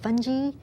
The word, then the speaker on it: fungi: have singular fungus and plural fungi sometimes British people will call it funghi okay that's just a different pronunciation but it means the same thing these include the molds